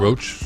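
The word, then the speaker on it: Rauch: Melissa Rach how do you say that Melissa roach roach Roach yeah recently signed new lucrative Deals they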